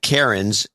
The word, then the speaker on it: cairn: over dame kenny ben keeper of the cairns uh karen's but it's spelled c-a-i-r-n people of the cairns